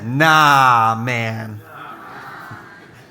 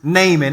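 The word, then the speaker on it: Naaman: everybody say nah man yeah that's not how you pronounce it um but I 100 wanted to name this series nah man and I told our team that and they were like nah man I'm like okay okay so the way you pronounce this is naming everybody say naming okay um here's I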